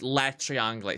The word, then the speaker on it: Le Triangle: El Triangle. So it's Le Triangle. Sorry, I speak Spanish. I don't speak French. So I don't have quite the correct pronunciation.